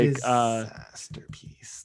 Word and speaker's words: Disasterpeace: Like Disasterpeace, like masterpiece, but with Disasterpeace. yes. And peace is spelled like peace on earth peace.